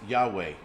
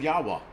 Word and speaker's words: Yahweh: It's pronounced Yahweh. Okay, I almost had it right. I said Yahweh.